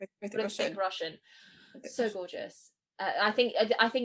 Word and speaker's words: Hrithik Roshan: So do you not pronounce the H at the beginning? Hrithik. I know, I just say Hrithik Hrithik Roshan.